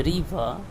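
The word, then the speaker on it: river: The letter are इज not pronounced when it occur at द एंड ऑफ a word. जब word के आखिर में आर आता है तो उसका साउंड नहीं निकलता है, जैसे कि रिवर, कॉपर, कलर, पीटर, पिटे।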